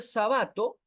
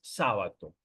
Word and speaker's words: Sábato: al de sábato no Si vemos escrito el apellido de sábato en realidad es zato porque no tiene tilde en la primera no este no tiene tilde como si fuera esdrújula Entonces debería ser sabato y es sábato y acá estamos ante